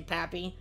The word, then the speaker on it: Papi: love you guys love the way i say papi that's the proper way to pronounce it uh number five we got mookie